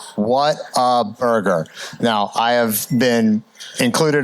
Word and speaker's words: Whataburger: Scott can you tell us how to properly pronounce waterburger that that is a a topic of great discussion it is what a burger and the quick history on that is when